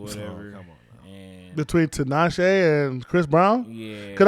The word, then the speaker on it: Tinashe: See, I don't even know how to pronounce her full last name. Tinashe, yeah.